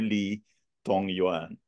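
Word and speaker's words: Li Dongyuan: Lee dong dong yan Okay you pronounce it as Dr Lee tong Yuan so napakagaling niya because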